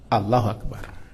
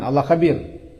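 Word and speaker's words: الله أكبر: membesarkan Allah lafaznya apa Allahu Akbar bukan Allah Kabir Allahu akbar J kita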